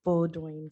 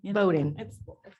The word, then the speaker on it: Bowdoin: theater and dance at bulldozing college how they say it actually i say bowdoin boating yeah okay voting voting